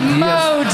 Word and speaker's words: Modist: No, it's spelled. Come on, it's Modist. Modest.